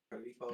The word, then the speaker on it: Corippo: want to pronounce it, Coripo or Coripo, Corippo. Coripo is how you say it.